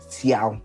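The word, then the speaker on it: 箫: We've got a pipa, a halusi or halusai, and we have a zayo or a xiao, which is how it's said in Chinese.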